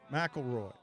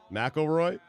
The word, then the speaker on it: McIlroy: don't understand why how do you say it McIlroy McIlroy anyway his golf game was Stella this weekend